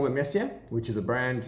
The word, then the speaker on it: Mercier: Mercier is a funny name. It's Mercier. There's different French ways of saying it, even different sort of pronunciations. A Parisian person from Parisien from Paris will say merci. They really get quite guttural, but it's otherwise it's just Mercier.